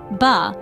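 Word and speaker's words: 八: exceptionally lucky the reason its pronunciation in Mandarin B is phonetically similar to fa which means wealth or Prosper therefore it's not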